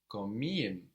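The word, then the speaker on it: komiğim: I'm funny is komiyim. Komiyim. It's spelled K-O-M-I, and then the soft G with the little upside down point on it, I-M.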